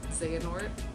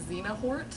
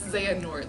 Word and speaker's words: Xehanort: Now I know how to pronounce his name. Xehanort, I guess. Because when I was Yeah. reading it, I kept calling him, like, Xenahort. Like, I would reverse the N and the H.